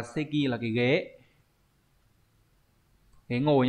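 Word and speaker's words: 席: Chữ tịch này đọc là seki, là cái ghế.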